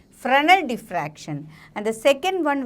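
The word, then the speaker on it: Fresnel: what is fral deflection here s is there but s is silent so that is why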